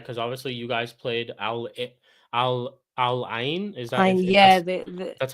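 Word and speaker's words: Al Ain: Because obviously you guys played Al Alin. Is that Yeah, that's how you pronounce it.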